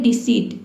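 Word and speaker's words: deceit: जैसे कि देखिए यहां पे है डिसीट। डिसीट में देख सकते हैं कि इ आई से पहले क्या है? सी लेटर आया है। तो यहां पे जो इ आई है इसको हम ई पढ़ेंगे। देखिए डी ई का हो जाएगा डी। सी का हो जाएगा स और इ आई का हो जाएगा ई। ठीक है? ई टी का ट हो जाएगा। ये हो जाएगा आपका डिसिट।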